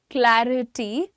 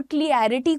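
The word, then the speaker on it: clarity: The other word is क्लैरिटी एंड क्लैरिफाई। इसमें क्लियरिफाई मत बोलिएगा और क्लियरिटी कुछ नहीं होता है, that is क्लैरिटी एंड क्लैरिफाई।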